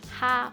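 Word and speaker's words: 蝦: stir in the scallions in cantonese prawn is pronounced ha we have a saying called which means smiling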